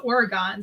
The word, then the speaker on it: Oregon: but there is an oregon wisconsin and it's pronounced oregon so that's why wisconsinites always say the state